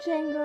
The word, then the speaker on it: Django: The name's Django. The D is silent.